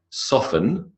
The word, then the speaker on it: soften: Yeah, it's a common mistake, but the pronunciation of O-F-T-E-N is often, like soften, by the way, another example. To make soft is to soften, silent T, whistle. Thistle, bristle, Christmas.